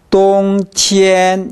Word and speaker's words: 冬天: 겨울은 똥티엔 이게 아니라 똥보다는 티엔이 약간 낮습니다. 똥티엔 이 정도 됩니다. 똥티엔 이 정도로 발음합니다.